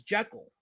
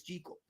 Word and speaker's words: Jekyll: As KSS said earlier, he's Scottish, so he pronounced it with a Scottish accent, and that's how it's pronounced. But it's not spelled that way in our modern English vernacular, so it's organically and immediately pronounced, or as it appears to be pronounced, as Jekyll. But make no bones about it, we're pronouncing it wrong. It really is Jekyll.